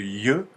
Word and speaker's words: й: ces de lettres là il faut juste savoir que là quand il y a pas d'accent et ben on a un i un i mou comme je vous le disais et quand il y a un accent c'est le c'est le ye voilà c'est un ye ça veut dire que